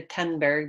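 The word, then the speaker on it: Thunberg: we've talked about Greta tunberg before now we know how to pronounce your name correctly it's not th its ton because she's Swedish and that's how they pronounce it so what is a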